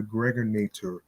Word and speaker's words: Gregonator: This is your man and homie, aka the Gregonator. Rhymes with now or later.